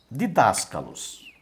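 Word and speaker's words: διδάσκαλος: Eu tenho aqui, por exemplo, didáscalos. Didáscalos. Como é que você vai ler essa palavra? Você vai ler didáscalos. Didáscalos. Didáscalos. Olha a sílaba tônica aqui, ó. A sílaba tônica é das.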